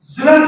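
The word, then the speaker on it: ظُلْم: صورت میں دے گا۔ صحیح معنوں میں ظلم ہے، ظلم یعنی لام کے اوپر جزم ہے، لام ساکن ہے، ظلم کہتے ہیں، جو درست تلفظ میں ظلم کہا جاتا ہے۔ آگے ہے حکم کہتے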